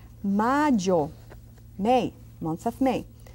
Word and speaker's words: mayo: And we say mayo. May. Month of May. Mayo. See that Y? I do it quite strong.